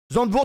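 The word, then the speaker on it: Zandvoort: C'est le fichier Zandwurt. Zandwourt comme ça se prononce.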